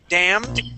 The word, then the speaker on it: damned: good so damned okay now this uh this word and the next word are pronounced exactly the same okay um the first one